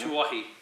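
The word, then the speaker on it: Tuohy: Alright, finally, Dominic, not even going to try and pronounce that last name. Tuahi.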